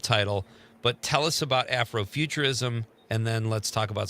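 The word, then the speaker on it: Afrofuturism: Afroofuturism.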